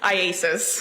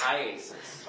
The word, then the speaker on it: IACIS: How do you say it? IASIS. IASIS. All right. I just want to shorten it for today. Yes. All right. So IASIS.